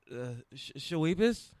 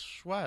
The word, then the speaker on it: Schweppes: You made it way more complicated. Get the S-H-S-C-H, sh, W-E-P-P, weep, E-S, is, Shawibas. Get the Shawibas. Weep is W-E-E-P. That's Schweppes.